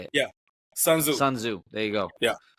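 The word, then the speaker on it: Sun Tzu: say it yeah sunu sunzo there you go yeah so the t is silent sunzo silent yeah so so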